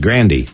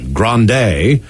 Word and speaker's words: Grande: weekend bombshell oh man she said her last name is actually pronounced grandy yeah rhymes with candy ariana crane granny ariana